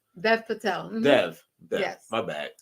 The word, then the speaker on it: Dev Patel: It's the first directorial debut from Dave Patel, who is also the lead. Dave Patel, Dev. D-E-V, Dev. Dev Patel.